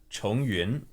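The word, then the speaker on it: Chongyun: So Yun is a cloud, and Chong is like Chongfu, like repeating. Like again, sort of.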